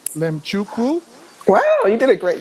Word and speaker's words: Mlemchukwu: I'm pronouncing this correctly LM chuku wow you did a great job yeah yeah yeah lot people like how do you say l i fig the m is silent I mean yeah it's